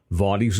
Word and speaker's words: Vaudies: Vaudies is spelled V-A-U-D-I-E-S. Think modern day vaudeville.